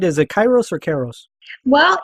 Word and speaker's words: Kairos: Is it Kairos or Kairos? Well, it's pronounced both ways, but we pronounce it Kairos in our household.